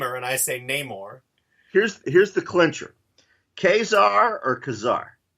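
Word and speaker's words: Ka-Zar: I've heard I've heard comic creators pronounce them kazar though really yeah I pitched Marvel a kazar miniseries back in the day it would have been for their max line and the editor kept pronouncing him kazar and now I you know not to tell you your business you're employed by Marvel but I think you're pronouncing alright anyway so we have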